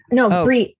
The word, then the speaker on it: Brie: I will have everything in the show notes, but Brie, like BRI, right? Brie, as in Brie. Okay, like cheese, fromage. Cheese. As in the cheese.